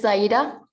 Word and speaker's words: Zaida: Is it Seda? Did I say it right, Seda? It's Zaida. Zaida, okay, I got it.